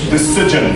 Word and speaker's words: decision: that okay that's wrong the right way is decision very good why because when you have s-i-o-n you pronounce the like that as an example the tv